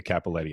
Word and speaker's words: Cappelletti: going to be having today is with amanda capaletti i said that correct right you sure did all right very good spell it though uh see it's there's two p's